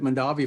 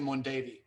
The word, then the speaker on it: Mondavi: Yeah, I actually drove a forklift at Mondavi for a few weeks before I got that winemaking gig in Grayton. I would give you credit for that, but you pronounced it incorrectly. It's actually Mondavi.